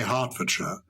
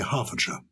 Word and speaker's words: Hertfordshire: cheer is beautiful and you say hertfordshire other people would say harfordshire i don't know why the t is silent obviously you live there